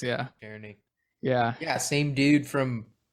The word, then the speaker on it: Czerny: How do you pronounce this? Henry. No clue. Czerny? Czerny? Yeah, that's what Wikipedia says. Yeah. Czerny.